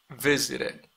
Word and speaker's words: visited: V, visit, visit, visit, visited, visited, visited, visited. Termina en T, usted menciona, usted pronuncia ED, TED.